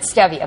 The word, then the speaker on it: stevia: Some people pronounce it stevia. That's totally fine. Right. Stevia, stevia. Right. The pronunciation isn't the issue.